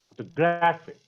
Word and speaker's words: photographic: In photographic, we stress the penultimate syllable.